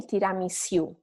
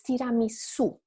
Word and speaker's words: tiramisu: You don't say tiramisu, right? It's tiramisu. So the letter U doesn't have a U sound that you might use in English, but it's always simple U.